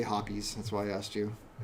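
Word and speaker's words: Hoppe's: recommendation right there, is how do you pronounce that? Hops. Hops. I say hoppies.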